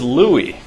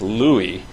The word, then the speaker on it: Lewy: you get super stellar points that this is Louie of Lewy body dementia he was a Friedrich Heinrich Louie who was was from Germany and he ended